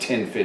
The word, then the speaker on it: Ten Fidy: regular 1010 fitting is it's pronounced tin fit even though it's spelt in fighting and we're gonna go